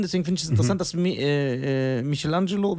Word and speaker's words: Michelangelo: find ich interessant dass Michelangelo wie wird eigentlich rich ausgesprochen Michelangelo Michelangelo eigentlich Michelangelo aber ich sag Michelangelo wir sind hier in Deutschland okay genau m Michelangelo der